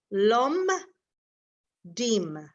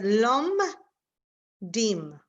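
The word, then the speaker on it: לומדים: So the shva is silent if it is in the middle of a word. So like, can you all see my screen? The first word in here in line 6, the shva, we have to break it into syllables. So we would say lom dim. In this case, these 2 dots is silent. It's like as if there is no vowel under the mem.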